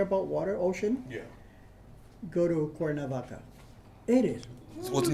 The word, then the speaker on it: Cuernavaca: I don't know what it means, but it's now pronounced Cuernavaca.